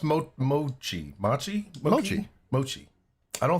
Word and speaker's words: mochi: No, Mochi?